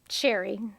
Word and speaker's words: Sherry: my mom of course sherry to rhyme with Jerry he would always tell